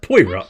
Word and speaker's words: Poirot: justice to make you feel anything left it's pronounced poirot just broke it kind of you'll find the